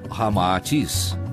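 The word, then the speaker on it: Ramatís: unindo-se rama I atis cita ao inverso resulta Ramatis como realmente se pronuncia em indo chinês informa Ramatis que após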